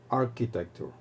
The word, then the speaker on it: architecture: viene la palabra architecture no se pronuncia como Che sino con el sonido c K ar arc architecture Band banda banda de